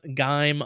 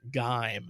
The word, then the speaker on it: Gaim: just to throw my 10 cents in I pronounce gime like dime with a G probably incorrectly because if you remember Toby I said Kamen Rider game which was not correct it's Kamen Rider gaim is what we're thinking um or at least